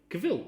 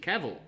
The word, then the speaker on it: Cavill: I'm like, well, everything I've seen over the year, they've said it Cavill, Henry Cavill, but it's when you look at it, it probably should be just Cavill, and he's right.